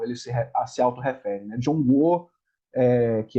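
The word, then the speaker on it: 中国: do Meio como ele se auto refere né jongo que é como se fala China que a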